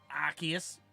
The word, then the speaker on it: Arceus: I think that one you're supposed to pronounce it Arceus don't care sorry but